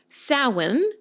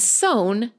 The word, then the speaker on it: Samhain: I didn't know this because I'm not a native English speaker, but the word Samhain is pronounced Samhain in American English and sown in British English.